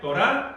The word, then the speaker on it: Torá: Torá con acento en la A.